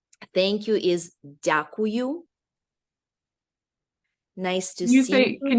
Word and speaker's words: дякую: Thank you is дякую. Nice to see you. Can you say that one again? There's a lot of vowels in that one. Say again, the way it sounds. Sure. Thank you. Yeah. Дякую.